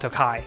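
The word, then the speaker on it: Tokaji: a street vendor and it was just called tokai it's spelled takaji but it's pronounced takai and i was embarrassed when i mispronounced it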